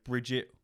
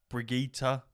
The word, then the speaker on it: Brigitte: There's many different ways to say her name, but I say Brigitte, or just call her Briggy. I know people say Bridget or Brigitta, all different fucking ways, but it's easier for me to just say Briggy.